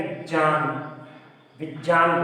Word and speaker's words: विज्ञान: भी से लगाए तो विज्ञान, विज्ञान बोलते हैं। लेकिन सही उच्चारण कभी कभी हमारे लिए भी मुसीबत का कारण बन जाता है।